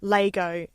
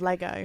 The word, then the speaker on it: Lego: melbourne um but uh in south australia they say lego instead of lego lego lego there you go yeah